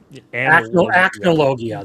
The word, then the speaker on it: Acnologia: what's the fucking, like, evil dragon that, like, Analogia. Acnologia. There we go. Yeah, exactly. I can't pronounce it.